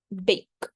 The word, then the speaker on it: bake: This pattern has a silent E at the end that makes the vowel before it says its name, turning into a long vowel sound.